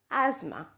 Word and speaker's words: asthma: is es th m es how do you pronounce the Dulce asked Emma do you say estimate well the correct technique is asthma so this is how you see this word